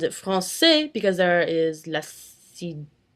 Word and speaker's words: français: For example, in the word French, français, you pronounce it français because there is la cdelle. If there wasn't, it would be le français. It'd sound like a K instead of an S.